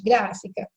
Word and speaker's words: gráfica: Tá aí, ó, na minha frente, gráfica. Aí eu conto, são 3 sílabas, nós já aprendemos isso, né? Então, gra é a primeira, o FI é a segunda sílaba, o CA é a terceira.